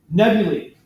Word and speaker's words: nebulae: Nebulae. A-E is pronounced E.